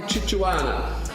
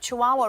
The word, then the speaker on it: Chihuahua: kimberley said that she would fight like a chichuana to retain regional representation i stand corrected on